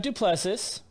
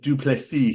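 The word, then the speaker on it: Du Plessis: So I think they pronounce it Duplessis. He's South African.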